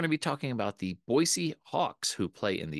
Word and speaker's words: Boise: Today we're going to be talking about the Boise Hawks, who play in the Independent Pioneer League.